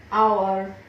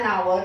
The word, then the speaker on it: hour: We have an hour to reach the station. We have an hour to reach the station. Okay. H is silent over here and hence I have put the article an.